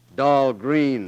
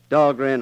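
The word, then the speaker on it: Dahlgren: Dog grand proving grounds. Oh yes, that's right. Of course they uh they mispronounce it down there. Doll Green, they say, but still named after me.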